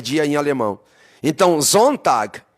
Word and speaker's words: Sonntag: Sabe como é que se pronuncia domingo em alemão? Sonntag.